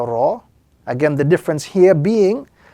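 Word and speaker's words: راء: And as we focus a little bit on the pronunciation, this particular letter, the letter Ra, is pronounced when the tip of the tongue slightly touches the upper gums, the letter Ra.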